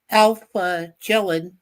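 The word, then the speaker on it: Kjellin: First of all, I realized that it's Alf Jellin, since we don't pronounce his first letter, that directed.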